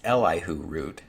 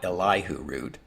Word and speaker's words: Elihu Root: a few podcasts now unfortunately I've been mispronouncing his name it's elihu root not eliu root but anyway root had